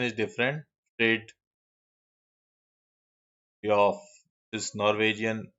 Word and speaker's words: Fridtjof: So this is Fridtjof Nansen, okay. Pronunciation is different. Fridtjof is Norwegian pronunciation.